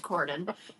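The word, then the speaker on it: Corydon: from here cordan coren is that coren three syllables three three syllable four I mean some people may say cord told you I'm a writer it's cordon and that makes him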